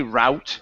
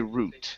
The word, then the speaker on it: route: Uh this word here is Well, there's actually two ways to pronounce this. I say route. There are other people that say root. Root. Yeah. Okay. Yeah. So, it just depends.